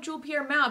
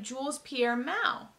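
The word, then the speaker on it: Jules-Pierre Mao: it was season three they started pronouncing it like jules pierre mao and i always thought the s was silent it was like a french thing i don't know so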